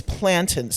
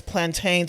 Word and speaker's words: plantain: It's plantins to me. Anybody that says plantains, I'm just like, you know, come on now. You know, it's just like that's that's what I say. Throw in extra syllable. Yeah. It's just like plantains. I don't I guess I I don't know, you know. I guess it's tomato tomato, but for me for me it's plantain. So, apricot.